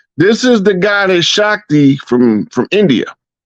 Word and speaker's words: Shakti: Arthur Basham, a well-known historian of India, wrote, "These themes of Shikti, how you say her name? Say that Shakti. name again, Rod. Shakti. It's pronounced Shakti.